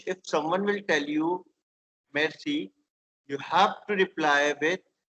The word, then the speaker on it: merci: Merci is thank you. It is not mercy, please. Do not pronounce it mercy. It is merci.